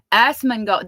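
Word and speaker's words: Asmongold: Assmongold. That's how you say it.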